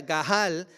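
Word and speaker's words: גאל: Esta es una palabra que se traduce desde el hebreo, que se pronuncia gahal, y significa rescatar por un precio.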